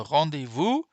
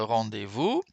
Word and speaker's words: rendez-vous: Alors, je ne sais pas si je vous ai déjà dit ça, mais le S, vous n'allez pas me croire, c'est incroyable. Le S là, hein, il n'est pas prononcé.